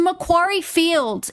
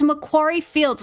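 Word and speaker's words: Macquarie Fields: southwest suburb of Did he just call Mcquaryy Fields that How do you How do you get It's a Mcquaryy Fields. It's Mcquaryry Fields.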